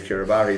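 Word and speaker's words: Kiribati: Curabati. It is Kiraabari.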